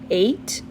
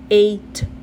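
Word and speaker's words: ate: o som do T, eight, e não estou pronunciando o E, não estou fazendo nenhum som pro E, porque o E é mudo, ok?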